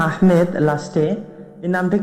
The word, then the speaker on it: আহমদ: আহমেদটা হচ্ছে বাঙালি বিকৃত উচ্চারণ। আহমদকে আহমেদ বলা এটা বাঙালি অ্যাকসেন্ট, যেটা ভুল, প্রচলিত ভুল। আসলে আহমদ, ইসিম তাফজিলের সেটা হচ্ছে আহমদ, মানে অধিক প্রশংসাকারী।